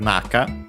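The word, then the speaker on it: なか: Then we have naka accent on the first syllable.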